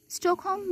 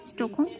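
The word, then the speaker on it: Stockholm: তো fast stroke home বা স্টকহোম কোন কোন জায়গায় স্টোক থাকে দন্তস টকার ক স্টোকহোম কোন কোন জায়গায় স্টকহোম একচুয়ালি এটা তো ইংরেজি উচ্চারণ তো ইংরেজিতে উচ্চারণ করতে গেলে স্টকহোম এটাই হচ্ছে স্টকহোম সম্মেলন যেটা সালটা খুবই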